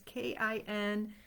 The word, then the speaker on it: kintsugi: It is a Japanese technique called kintsugi. I actually had to listen to the pronunciation because the spelling is K-I-N-T-S-U-G-I, kintsugi.